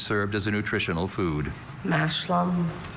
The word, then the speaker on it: mashlum: In Scotland, farmers planted a mixed crop of mashlum, usually oats with either peas or beans, which served as a nutritional food. Mashlum. Schwa in the second syllable.